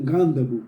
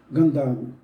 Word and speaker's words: Gandavo: Alguns pronunciam Gandavo, mas eu vou dizer aqui Gandavo.